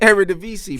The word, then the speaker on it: Eredivisie: I couldn't pronounce it. How do you say it? Eredivisie, bruv.